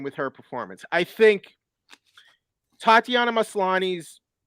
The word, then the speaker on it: Tatiana Maslany: thing uh how do you say her name tatiana maslany yes am i saying that am i'm sorry